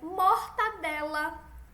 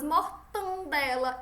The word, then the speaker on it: mortadela: Como é o certo? É mortadela e mendigo, não mendigo. A gente não tem esse som nasal. Olha como a gente pronuncia as palavras mortandela e mendigo.